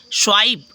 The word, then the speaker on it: swipe: जैसे नेक्स्ट है SWIPE स्वाइप, ठीक है, क्या हो गया? स्वाइप, तो यहाँ देखो तो ई साइलेंट हो गया है, ठीक है।